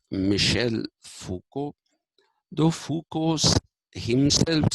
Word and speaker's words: Foucault: Foucault is Michel, Michel, Foucault, okay, Foucault, Foucault, as Renault is Renault, the car. We say Renault, but it is Renault. That's a French pronunciation.